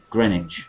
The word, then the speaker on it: Greenwich: Notice the pronunciation of Greenwich, not Greenwich. Greenwich.